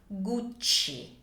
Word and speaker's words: Gucci: double C so we have two C's so you need to elongate a little bit so it sounds like this guci guci this was founded by